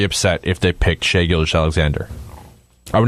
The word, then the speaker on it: Gilgeous-Alexander: How do you pronounce his last name? For sure. Shai Gilgeous-Alexander.